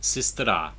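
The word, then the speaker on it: сестра: This is sistera, meaning sister.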